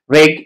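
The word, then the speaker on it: wreck: नहीं किया जाता डब डब् का भी पैटर्न है कि डब् के बाद जब आर आ जाए तो ये डब्लू जो होता है ये साइलेंट बन जाता है कि राइट राइट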